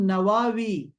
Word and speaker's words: نووی: ہیں تو کہتے ہیں امام نووی، ہمارے ہاں تو امام نووی مشہور ہے، لیکن دوسرا تلفظ اس کا ہے امام نواوی، نواوی بھی کہتے ہیں عرب لوگ اس کو، نواوی۔ تو امام نووی جو